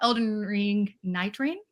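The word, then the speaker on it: Elden Ring Nightreign: We also have the Spotlight Games, both present as well, that did a lovely coverage of, they spoke about Elden Ring Night Rain. Is that how you pronounce that?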